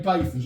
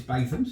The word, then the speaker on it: Bathams: Yeah, You've got to say Bathams. I've been Bathams. told how to say it. It's Bathams. One of our lovely subscribers from the Black Country says it's Bathams, so we believe him.